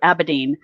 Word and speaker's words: Abedin: huma abe adibem or adame right i can't pronounce aberdeen abedin thank you abedin june 7th and then bill where's winger why